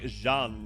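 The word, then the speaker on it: Jeanne: Yeah, I mean, it's more like Jean is how you say it, right? Like you have to do the je.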